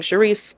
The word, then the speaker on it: Sharif: My first name is, last name Sharif, s h a r i f, not pronounced sheriff. Do not get on the phone with me and say Miss Sheriff.